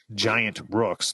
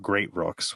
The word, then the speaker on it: Giant Rooks: week that I'd said the band name wrong so the I had picked the B the song mind control it's by a band called giant Rooks not great Rooks which I said GI I said great they're called Giant and